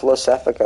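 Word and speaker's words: Iosefka: It's pronounced Losefika, apparently, right? That's an I. That's not an L.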